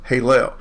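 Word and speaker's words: הֵילֵל: It could actually be Haylel, pronounced Halel.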